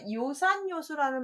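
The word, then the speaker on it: 요산요수: 그래서 어진 자는 산을 좋아하고 지혜로운 자는 물을 좋아한다를 줄여서 요산, 요수 할 때 락자라고 읽지 않고 악자도 아니고 요로 읽게 돼서 그렇게 발음이 바뀐다는 거.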